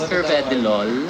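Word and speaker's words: Carvedilol: Curve Dolve Delol is a medicine ' ba because uh you're a pharmacist. Yes po. Actually it is pronounced as Cvedilol.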